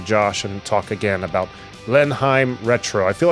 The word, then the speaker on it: Blenheim: It's Blenheim. There it is. I don't think I ever attempted to try to pronounce it until I heard you say it.